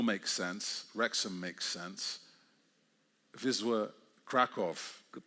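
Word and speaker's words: Wisła Kraków: Vizwa Kraov, good pronunciation.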